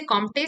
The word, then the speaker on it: Comte: हम सबसे पहले ऑगस्ट कॉम्ट को पढ़ते हैं. अच्छा, देयर इज आल्सो प्रोनाउंसिएशन का थोड़ा प्रॉब्लम है. सम पीपल से कॉम्टे, सम पीपल से कॉम्ट. इट्स a French name, सो से एज यू विल.